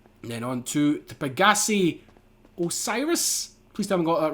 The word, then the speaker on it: Osiris: on to the pagi Osiris please tell me got that right yes I did I normally say orsus but it's Osiris this is obviously aani